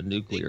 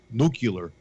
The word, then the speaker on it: nuclear: of telling if somebody to set off a nuclear explosion they know yeah they have instruments they have instruments that can tell that all mispronounce nucular nuclear yeah Duke you mispronouncing it spell it's